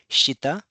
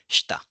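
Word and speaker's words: した: You we do not say it as shittita. We call it asa that means sh hta. The pronunciation is sh hta. It's not sh hi ta. It's shita not shittita.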